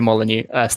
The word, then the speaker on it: Molyneux: and um peter peter molyneux oh that famous british actor wait no no it's pronounced liar yeah that's that's the one